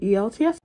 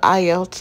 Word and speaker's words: IELTS: do you need a elts you guys I just realize why editing I did not pronounce the word correctly it is the IELTS test so the international